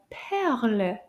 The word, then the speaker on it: perle: And in French, they're called perles. Can you say perle? Let's clap the syllables. Combien de syllabes? Un, deux. Perle. Deux syllabes. Bravo.